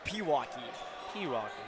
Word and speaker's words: Pewaukee: of the times did I say it it's Pewaukee gotcha I definitely some people definitely do say Pewaukee as a three is from Isaiah Robinson is